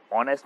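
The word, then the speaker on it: honest: Seventh, Mohan is एन आएगा इसमें, एन ऑनेस्ट, because ऑनेस्ट में क्या है, एच साइलेंट है, इसलिए एन आएगा।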